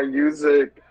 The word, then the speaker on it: Myooz: so it it's um it's pronounced music it's just the Latin Style of it um yeah so uh